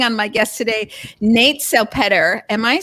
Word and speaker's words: Salpeter: I want to bring on my guest today, Nate Salpeter. Am I saying that correctly? Yes, you are. Yeah, it depends on what part of the world you're in as to the pronunciation, but you nailed it.